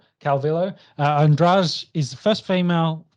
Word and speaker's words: Calvillo: How do you say her last name? Calvillo.